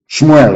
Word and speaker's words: Shmuel: Shmuel, of course, correct pronunciation.